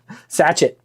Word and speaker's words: sachet: Sachet. I'm always pronouncing things wrong, so thank you for correcting me.